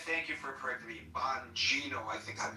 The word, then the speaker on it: Bonino: and and thank you for correcting me, Bonino. I think I mispronounced his name and I was like